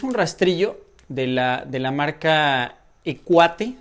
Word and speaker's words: Equate: rastrillo de la marca y cuate si se pronuncia viene cuate así es así está escrito y bueno pues eso